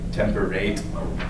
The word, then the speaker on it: temperate: a little bit so you're supposed to read temperate like temperate so it rhymes with date it's just a funny